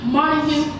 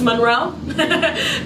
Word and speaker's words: Monroe: forward to money for more information it's money bro all right Cindy that girl just cannot say my name for nothing it's Monroe but we're not gonna